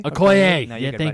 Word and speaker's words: Okoye: No, but the the fight scene between Proxima Midnight, Black Widow, and why can I not pronounce her name? Proxima. Okoye? Okoye.